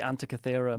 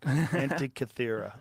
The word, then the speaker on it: Antikythera: Oh, the Antikythera That's mechanism. it. I never could say that. Antikythera.